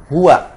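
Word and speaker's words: هو: Hati-hati jangan huo ya. Hua huallah ya.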